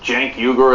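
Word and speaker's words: Cenk Uygur: you know because it's Jen yuger and the C is pronounced like a j it's a nightmare right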